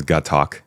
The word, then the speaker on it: Gatac: I love how the pronunciation is Gatak, and they knew that going into this, yet they still put Plan of Gatak as the name of the episode.